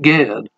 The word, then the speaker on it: Ged: My professor told us that it is pronounced the same as Jed with a J.